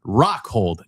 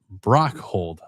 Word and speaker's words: Rockhold: And by the way, I meant to say Rockhold, not Brockhold. Sorry for my mispronunciation of the gentleman's last name.